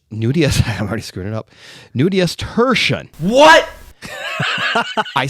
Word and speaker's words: nudiustertian: I have to get the pronunciation right. So it is nudius. I'm already screwing it up. Nudius tertian.